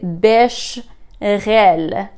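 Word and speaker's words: béchamel: বেশখেল এখানের মধ্যে অ্যাসটা প্রোনাউন্স করা হয় না, সো এটা হচ্ছে বেশরেল।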